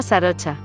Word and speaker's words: Sarocha: Se llama Sarocha. Sarocha Chankima, me dijo Sarocha y noté que esperaba que preguntara cómo se pronunciaba. Se lo pregunté, claro, y se rió, como Sara y Ocho, dijo.